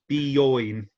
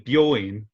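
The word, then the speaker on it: 美容院: Bioin. Byoinde. Yes. Oh, sorry. Yeah. Important to pronounce this as bioin, because if you say byoin, this is hospital.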